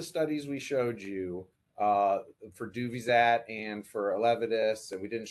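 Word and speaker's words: Duvyzat: A question that came in earlier is Duvizat. I'm sure I said that wrong. My pronunciation skills.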